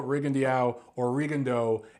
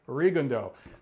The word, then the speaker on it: Rigondeaux: The name looks French because it has an X at the end. I'm from Detroit, right next to Canada. I know French pronunciation. It looks like Rigondeaux.